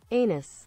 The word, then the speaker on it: anise: That's how it's pronounced. Anus.